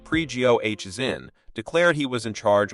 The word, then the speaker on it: Prigozhin: in Ukraine whereas Fighters had been engaged precaution pronounced pre-goh is in declared he was in charge of the Southern